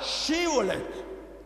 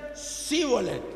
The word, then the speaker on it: Shibolet: los galaditas le decían: di la palabra Shibolet, con H. Y ellos no podían pronunciar la H hebrea, así que decían Sibolet.